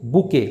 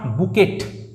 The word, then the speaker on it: bouquet: সঠিক বানান রয়েছে বুকে, অপশান নাম্বার ডি। BOUQUET। এই টিটা কিন্তু সাইলেন্ট থাকবে, সাইলেন্ট, অর্থাৎ এর উচ্চারণ হবে না। তাই উচ্চারণ হবে কি বুকে, নট বুকেট।